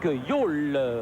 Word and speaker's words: Jol: Oui, monsieur Dick Jol, ou Jol comme vous voulez, sera l'arbitre du milieu, ça s'écrit J-O-L, associé de Gerard Vervoort et Jaap Poel comme arbitre assistant.